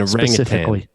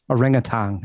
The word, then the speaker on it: orangutan: Yeah, because it is a orangutan, as you say. An orangutan. Orangutan. You say it wrong. There's no G.